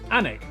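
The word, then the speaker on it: Alnwick: Followed by a stop in Quernmore Quamer before finishing up in Alwick Anig which is near Newcastle or as the people from the city itself say Newcastle.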